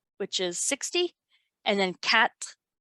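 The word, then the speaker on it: quatre: is 60 and then cat it's pronounced cat like a cat is going to be 64.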